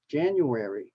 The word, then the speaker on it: January: and look at January the actual correct uh pronunciation has four syllables January January same with febr February but in casual speech we can say January February okay and these are